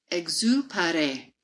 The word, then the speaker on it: Exupéry: This is a French name, so excuse my pronunciation. A quote by Antoine de Saint-Exupéry. Exupéry. Ex- No, excuse me. Exupéry. Antoine de Saint- Exupéry.